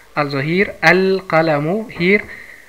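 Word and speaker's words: القلم: Und bevor ich die andere Beispiel schreibe, das Beispiel schreibe, also Qaf ist ein Mundbuchstabe, deswegen hat man hier keine Shadda und die Lam wird ausgesprochen.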